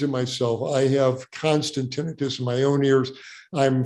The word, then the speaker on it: tinnitus: about a condition called tinnitus um I uh ring in the ears Etc and by the way the word is pronounced tinnitus not tinnitus so if everybody tinnitus